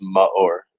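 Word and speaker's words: Maor: dealing with my whole life trust me it's pronounced ma or m-a-o-r like mud i'm not like m-u-h yeah my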